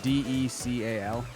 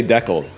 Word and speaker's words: decal: Justin, how do you say the word d e c a l again? Decal. Okay. So, you're Canadian, right? up here. We say decled. We say decal.